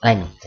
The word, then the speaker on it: length: If you listen to yourself say length, you may hear an insert k.